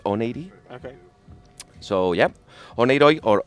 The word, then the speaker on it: Oneiroi: me well it's a we in Spanish call it onoi but Greek will disagree and and the corrent pronation is on8 okay so yeah Ono